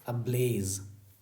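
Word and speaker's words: ablaze: ये Z letter के लिए उच्चारण ही होगा ज, ना कि ज। ये गलत है, ये करेक्ट है, ओके। अब्लेज, very good.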